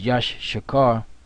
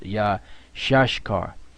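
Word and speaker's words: Issachar: that means happy now isar is yashar which we used to think it was Yash shakar which is not the the proper way to pronounce it which Elder to brought out is yah shashar yah shashar because yashar means he is hired so the yah at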